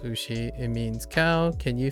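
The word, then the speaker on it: うし: For example, 牛、牛、 ushi is pronounced ushi.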